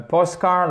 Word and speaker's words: postcard: this is a postcard or postcard? Postcard. Stress is on the first part.